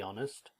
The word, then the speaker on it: honest: This is a tricky question, to be brutally honest. Okay, and notice that honest is never pronounced.